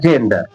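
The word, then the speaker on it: gender: देखिए, जब किसी वर्ड में जी के बाद ई आई या वाई हो तो जी का उच्चारण जा होगा। देखिए, जी के बाद में ई है तो इसका उच्चारण क्या होगा? जा। तो इसे इसीलिए पढ़ा जा रहा है जेंडर, जेंडर, जेंडर।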